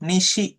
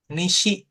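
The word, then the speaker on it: 西: Barat itu Nisi.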